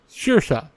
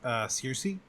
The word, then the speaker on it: Saoirse: Saoirse. Like Siasasche. Saoirse. Honestly, first time I saw it, I thought it was Circe.